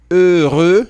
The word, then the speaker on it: heureux: Então, faça atenção na pronúncia, que é heureux.